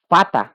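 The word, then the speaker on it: Vater: বি সেটা যার মানে ফাও এটাও একটু ব্যতিক্রম একটু মনে রাখতে হবে প্রনাউন্সিয়েশনটা হবে ফাও ফাও ফাটা ফাতা অর্থ বাবা ফাটা ফা উচ্চারণ হচ্ছে ফাটা অর্থ বাবা ডাবলিউ যেটা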